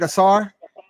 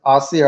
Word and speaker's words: Ausere: Did I say it right? Asar? Asir. Asir. What's the difference Yeah. between Asir and Asar? That almost sound the same, man. Yeah, it sounds similar, but it's Asir.